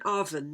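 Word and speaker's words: afon: the sixth coilbrand letter survived today in the welsh f as in arvin meaning river but in only one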